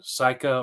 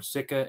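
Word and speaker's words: Sika: know the right pronunciation psycha or sikka s-i-k-a yeah so I was talking with my guide on my most recent hunt and he said either is appropriate he was calling him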